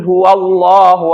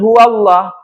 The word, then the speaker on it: huwallahu: Contoh ya, kalian baca ya misalkan qul huwallahu ahad. Kalian salah bacanya qul huallah.